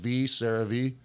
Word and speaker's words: CeraVe: Well, it's spelled like C-A-R-A-V-E-S. Now, I was thinking like S-A-R-A-H-V, CeraVe. Oh, no, it's like with a C, a CeraVe.